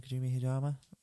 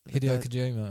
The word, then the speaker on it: Hideo Kojima: Kojima Hideyama? Hideo Kojima. That's the one. It's all not the coming out.